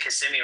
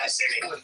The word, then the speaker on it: Kissimmee: They're in Kissimmee right now.